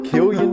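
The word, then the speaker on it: Cillian: I will go with San or chillian however you want to pronounce kilan there we go Killian Murphy uh you think I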